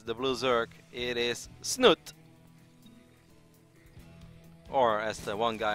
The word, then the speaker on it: Snute: player spawning as the Blues irk it is snoot or as the one guy on Twitter really wants me to pronounce it it's not the present it but